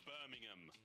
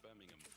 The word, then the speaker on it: Birmingham: And it is, you say it right, it's Birmingham, not Birmingham. Not Birmingham. There's no bovine, no pork involved.